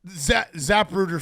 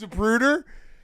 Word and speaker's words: Zapruder: So Zapruder film is a wild. I haven't had. That's a good. That's a new Davey pronunciation. The Zapruder film. What is it called? It's Zapruder.